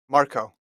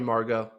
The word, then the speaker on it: Marco: Is it Margot or Marco? Marco. Marco. Oh, I've been calling him Marco. Margot. I think they spelled his name wrong on the thing. So Marco. Sorry, Marco. I was calling you Margot.